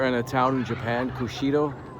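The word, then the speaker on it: Kushiro: Apparently Vancouver and a town in Japan, Kushido, I believe would be the pronunciation, are sister cities, and this was built to commemorate that.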